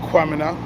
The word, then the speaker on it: Kwamina: So, the enslaved Africans there, led by a brother named Kwamina, Q-U-A, Kwamina, which strangely enough is the same pronunciation as the Ghanaian name Kwamina, spelled K-W-A.